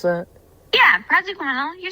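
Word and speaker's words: praziquantel: How do you pronounce that? Yeah, Presquantel.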